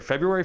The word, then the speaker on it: February: yeah it's it's here february 1st can't believe it and and i kind of want to just start there how do you say february february so you add the